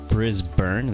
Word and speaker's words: Brisbane: Brisbane, that's how you pronounce it? You guys pronounce things weird. Brisbane, that's so weird. Like, why is there a Bane in it if there's pronounced burn?